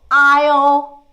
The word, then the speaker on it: aisle: Next one's aisle island. We don't say isle, Island. We don't say the S here. We don't pronounce the S.